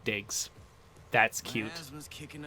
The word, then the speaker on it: DIG65: This guy's name is DIG65, and they pronounce it Diggs.